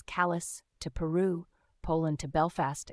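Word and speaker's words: Calais: China in 20 minutes Cal which we pronounce as Callis to Peru Poland to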